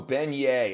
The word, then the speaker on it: beignet: Are you talking about the ben bene pronunciation? Oh, beignet.